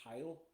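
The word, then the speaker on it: Hail: it's spelled h a i l but they pronounce it Hy and this is where I was talking about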